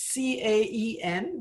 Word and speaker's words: Caen: It's Caen. I know it has a strange spelling. It's C-A-E-N, but it's pronounced Caen.